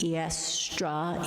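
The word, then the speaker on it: Eostre: It's spelled E-O-S-T-R-E, Eastra, Easter.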